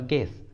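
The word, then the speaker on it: guess: For example गेस, गेस, इस English word में यू जी के बाद आया है और वॉवेल ई के पहले आया है, इसलिए यू साइलेंट है। गेस, गेस।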